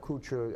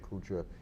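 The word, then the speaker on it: Koocher: Not Kuchar as we would know it here in Fall River, the French Kuchar. It's spelled K-O-O-C-H-E-R.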